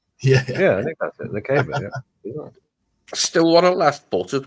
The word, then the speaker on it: Lukeba: And as Lukeba, that's how I pronounce his name.